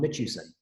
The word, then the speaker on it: Mitchuson: currently at Murray State as well as mitchison am i pronouncing that correctly that is correct there